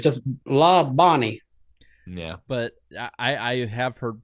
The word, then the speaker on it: Labonte: pronounce Bobby and Terry Labonte's last name. It's like La Bonnie. I've heard it Labonte as well.